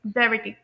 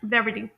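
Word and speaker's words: brevity: तो इसे British pronunciation में प्रोनाउंस किया जाता है ब्रेविटी, एंड अमेरिकन प्रोनाउंसिएशन में से प्रोनाउंस किया जाता है ब्रेविटी, ब्रेविटी। तो मैं आप लोगों को ये बता दूं कि अमेरिकन प्रोनाउंसिएशन में टी को स्लाइटली डी की तरह प्रोनाउंस किया जाता है, जिसे लिंग्विस्टिक्स में फ्लैपिंग भी कहते हैं, जैसे बॉर्डर, इसी तरह से प्लेडो।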